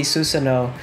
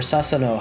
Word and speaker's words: Susanoo: You got to see Susanoo in or Sasano. How do you pronounce it? Susanoo. Susanoo. You got to see Susanoo in Fatal Journey.